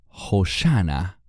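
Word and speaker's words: הושענא: Este canto se llamaba Hosana, o como se pronuncia en hebreo, Hoshana.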